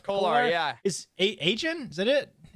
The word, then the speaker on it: Kolar: Kolar? Kolar, yeah.